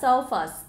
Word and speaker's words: surface: Nhưng mà khi mà thêm tiền tố so vào ấy, thì các em sẽ là surface, có nghĩa là bề mặt. Thì các em sẽ được đọc là âm er nhá.